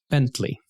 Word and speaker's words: Bentley: Bentley, making sure to pronounce that T.